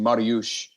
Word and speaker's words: Mariusz: His name is pronounced Mariusz for his Polish background, but we call him Mario because he's Super Mario.